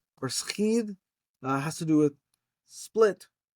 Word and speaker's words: σχιδ: You can do it sigma, kappa, iota, delta, skidh, or sigma, chi, iota, delta, schid.